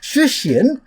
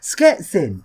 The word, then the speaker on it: Szczecin: Previously I visited this place, which I thought was pronounced Szczecin, turns out it's actually pronounced Szczecin, which I guess is kind of close, but